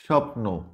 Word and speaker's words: স্বপ্ন: খুব সহজ হয়ে যাবে দেখো এইখানে আছে স্বদেশ স্বপ্ন দ্বিতীয় দেখো সবগুলো শব্দের প্রথমে কিন্তু ব ফালা আছে কিন্তু একটা এটাও কিন্তু উচ্চারণ হয়নি উচ্চারিত হয়নি তার মানে এগুলো কি